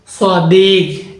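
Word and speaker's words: صديق: সদিক অর্থ হচ্ছে বন্ধু সদিক এটা গ হবে হবে খ হবে না গাফ সদিক সদিক ওয়ারহে কাফকে আরব অঞ্চলে আঞ্চলিকতায় গাফ উচ্চারণ করা হয় এজন্য ওটা হবে সদিক সদিক অর্থ হচ্ছে বন্ধ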